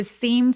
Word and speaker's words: seem: to는 to 아니고 애매하게 중요한 키워드가 아니라서 힘을 빼고 요 정도로 to seem foolish. seem은 굉장히 긴 장음이고요.